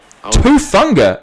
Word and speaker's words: Hufanga: How you pronounce it? San Francisco? Yeah. Hufanga. Hufanga?